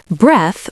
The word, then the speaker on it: breath: Breath, without the E at the end, is pronounced with a short vowel sound, breath, like the word health or death.